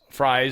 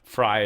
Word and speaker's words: Frey: This is how Bessent pronounced it or someone else. Fry is how they keep saying it. I think it was Steve Miller maybe that said it. I'm assuming it's Fry.